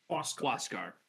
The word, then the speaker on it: Huascar: Huascar.